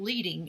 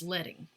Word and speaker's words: leading: it comes from and it is spelled as the element is spelled le ad lead and then in so it's not leading it's letting alright so examples of all